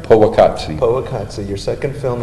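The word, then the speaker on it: Powaqqatsi: I'm going to put a little bit of Poa Qatsi in, and am I pronouncing that right? Poa Qatsi.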